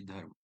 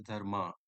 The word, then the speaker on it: Dharm: Om Bhavadbhya Dharma Dhwaj Rakshakebhyo Namaha. Hello friends. In this video we are going to understand the core terminology dharma. Many people pronounce this term as dharma, which is incorrect.